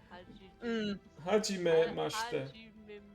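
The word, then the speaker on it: はじめまして: Hajimemashite. Try to break it into two. Hajime and then mashite.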